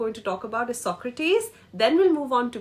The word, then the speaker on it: Socrates: you would know that the E is always stressed okay mostly not always